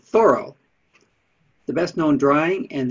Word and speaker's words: Thoreau: superstar henry david thoreau we usually pronounce it thoreau but he said thorough the best known drawing